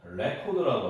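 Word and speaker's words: record: 근데 이제 명사일 때는 레코드라고 하고요. 레코드. 어, 우리 레코드가 알죠? 레코드. 그다음에 동사로 쓰일 때는 rec코가 됩니다. rec코ed.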